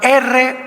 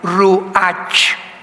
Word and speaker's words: Ruach: la palabra, como suena, R-U-A-C-H, Ruach, que es la palabra hebrea que significa espíritu, y se pronuncia la CH en el hebreo como J, Ruach, Ruach, como J, Ruach.